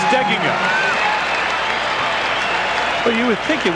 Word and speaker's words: Steigenga: sound anywhere near it the accent on the pronunciation that most people use is on the second syllable but Matt says it should be on the first Sil steing he was